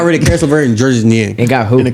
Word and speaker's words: Georges: It's spelled Georges, but I'm pretty sure they pronounce it like Gorgeous.